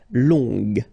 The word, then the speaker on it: longue: Okay, so phonetically it's longue, g, longue. So long, masculin, longue, féminin.